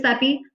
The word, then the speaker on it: Sepe: Pronunciation guide is here for folks who weren't sure how to pronounce my name. It's Ms. Sepe.